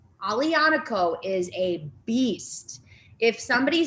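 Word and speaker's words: Aglianico: looking for i love this grape it's called ali anako now this one's a little bit um more difficult here but you can see it at the top a g l i a n i c o alianico is a beast if somebody says that there's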